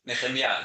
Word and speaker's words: Nehemiah: By the way, it's funny to hear the way my name is pronounced, Nehemiah, that's the way I pronounce it.